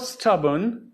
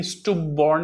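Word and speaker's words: stubborn: Number 3, Rohan was स्टबर्न इन his childhood. ये स्टुबॉर्न नहीं है, स्टबर्न है। प्रोनाउंसिएशन पर भी ध्यान दीजिए।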